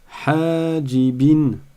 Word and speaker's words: حاجبين: Attention, je ne dis pas حاجبين حاجبين. Là, vous voyez que il y a un laps de temps ou un tempo qui est identique dans chaque syllabe. Or, ça n'est pas le cas, puisqu'ici j'ai un alif et ici je n'ai pas de ya.